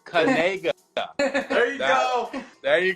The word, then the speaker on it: Knigga: mean by that see that's the key it's kga there you go there you go now we